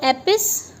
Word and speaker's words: epistemology: Epistemology, देखिए इसका pronunciation देखिए आप एक बार, epistemology, EPIS, एपिस, फिर T और फिर MO, और लॉजी तो आपको पता ही है। सो एपिस्टीमोलॉजी, तो इस तरीके से इसका प्रोनाउंसिएशन होगा।